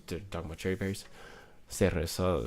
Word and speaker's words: cereza: Cereza is like spelled C-E-R-E-Z-A instead of this cereza. That's how you pronounce it in Spanish.